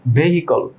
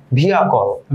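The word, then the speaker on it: vehicle: প্রথমে যে শব্দটা আমরা বলতে যাচ্ছি সেটা হচ্ছে ভেহিকল। নো স্যার, ইটস ভিয়াকল।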